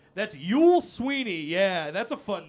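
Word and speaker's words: Youell: on the right, that's Yule Sweeney. Yeah, that's a fun name, too. His first name is spelled Y-O-U, like you, and then E-L-L, all in one word. So it's U-L Sweeney.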